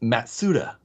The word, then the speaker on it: Mazda: it's Alex says it's actually supposed to be pronounced matsuda well that's absolutely no